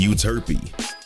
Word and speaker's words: Euterpe: Calliope, Clio, and Euterpe. Yeah, that's how you pronounce them.